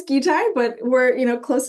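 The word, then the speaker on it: GITAI: so first and foremost Mary did I remotely get that correct with the pronunciation I believe it's gai but we're you know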